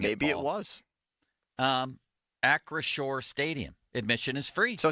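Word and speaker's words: Acrisure: through September 2nd at acore Stadium huh there's a little pronunciation here that says acore I think I've been calling it Acer does that uh is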